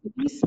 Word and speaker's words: Iris: And just for those who are online that may not have been able to hear, is it pronounced Iris or Iris? Iris? Okay.